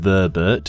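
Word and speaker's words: Voeburt: The pronounced Beret, spelt Vobert, prefix for these armor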